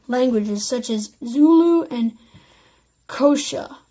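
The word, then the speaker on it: Xhosa: well as the guini you only in Guney spell it ng you and I languages such as Zulu and kosha spell X H OS a among the South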